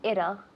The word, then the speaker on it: it'll: And Anna says it'll, because she's American. She's not really. But we have this American accent. So we say it'll, like a D. And if you prefer British, you say it'll, right?